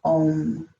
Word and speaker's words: Om: Bija mantra here is Om. And both the O and the M are long.